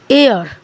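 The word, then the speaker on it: heir: silent है तो इसको क्या बोलेंगे एन आवा एयर ठीक है एच क्या है वो साइलेंट है तो इसको क्या इसका मतलब होता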